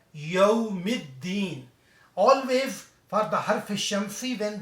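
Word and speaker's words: يوم الدين: When the fun letter is there, also lam is not pronounced there. Directly it will be read yawmiddin.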